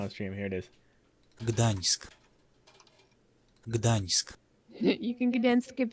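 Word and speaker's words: Gdańsk: this together on the stream here it is Gdansk Gdansk you can dance if you want to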